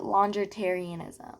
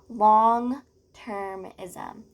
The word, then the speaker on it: longtermism: I was saying like longitarianism. Like I don't even know what I was saying. Longtermism. So like over the long term, like a long time. So furthermore, long-termism is another great aspect of PHC.